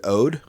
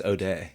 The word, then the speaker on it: Ode: So, we got uh how do you say Ode? I think it's OD.